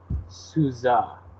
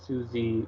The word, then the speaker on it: SUSE: matter the pronunciation is souza on Wikipedia which is like an amalgamation of most people like to say Susie or Sousa so I don't know